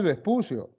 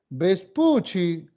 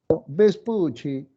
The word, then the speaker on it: Vespucci: Ah pues su nombre su apellido no es vespucio su apellido es vespuchi vespuchi no con doble c doble c y una y al final no se la doble c se pronuncia como una Che vespucci pero un español no va a estar diciendo Opel vespucci de frente dice vespucio más fácil Sí o no